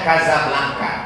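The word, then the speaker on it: Casablanca: Nah antaranya marobo ibukotanya tulisannya cakar lancang bicara bacanya Kasablanka Kaza artinya rumah belakangnya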